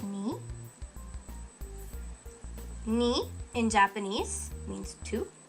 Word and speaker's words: に: It's pronounced ni.